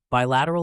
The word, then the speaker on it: bilateral: discussing Global cooperation and Partnerships let's start with pronunciation bilateral is pronounced as by lat Ur rule break